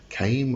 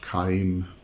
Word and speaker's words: Caim: Okay, Camio, or as I said, also spelt caim, or I think, or as far as I know, can be pronounced caim.